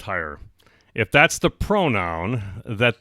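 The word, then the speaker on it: hir: In New York City now, you can be fined for not calling people Z-E or H-I-R, which I guess is pronounced higher, if that's the pronoun that they demand you use.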